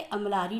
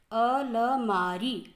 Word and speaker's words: अलमारी: शरात दिया है, स्पेलिंग क्या ठीक है? शु र को छोटा ऊ आत, शुरुआत। ये अमलारी दिया है, अमलारी नहीं होता है, अलमारी, अलमारी होता है।